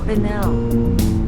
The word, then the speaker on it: Quesnel: The little town, Quesnel.